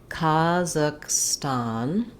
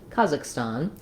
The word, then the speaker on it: Kazakhstan: to native speakers um I marked it here with some secondary stress on the ston syllable because it does have that clear vowel so practicing slowly kazakstan kazak kazakstan Kazakhstan kazak part of what's